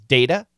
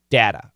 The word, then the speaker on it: data: the word data data we have two pronunciations data and data we say both so don't worry about that uh the study analyzed